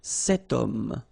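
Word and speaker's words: cet homme: then o is here we've got this ash letter remember Ash is not pronounced okay so you've got the sound of O at the beginning of this word okay setum so that's the reason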